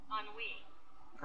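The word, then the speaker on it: ennui: boredom blah on we how do you say this on we on we I didn't know that's how you pronounce that boredom okay all right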